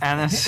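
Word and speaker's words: Annis: anus is back the I believe that pronounced Anis it's the anus a for sure we have a Hob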